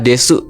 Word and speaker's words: です: Nah terus di sini ada penutupnya ada kata desu ya bacanya des gitu.